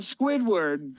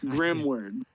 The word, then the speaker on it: Grimword: to get that right not Squidward grimword so there's Robert the